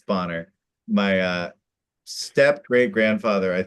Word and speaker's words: Bonner: So that's pronounced like B O N E R but sounds like Bonner or but looks like Borne.